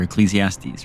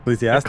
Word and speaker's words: Ecclesiastes: Oh, that's that Bible chapter, Ecclesiastes, right? Ecclesiastes? Ecclesiastes. Oh, okay. It's hard to read because it's hyphened in my notes here. So Yeah. I have to, but Ecclesiastes, yeah, okay, sure.